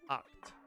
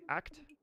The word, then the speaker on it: Oct: Has anyone actually figured out how to pronounce Oct's name? I think it's Oct. It could be Act. And I think I used to say Act, but it's Oct.